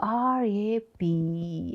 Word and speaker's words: wrap: color look at here w r a p how do you pronounce it rap how to say it